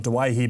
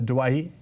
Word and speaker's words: Doueihi: ago you made the decision for us to pronounce your last name as dewey and not dwihy but earlier this year the likes of josh papalihi chan's nikolooksta changed their names for us to pronounce them correctly have you had any inkling or any consideration to change it back to dawahi uh not really too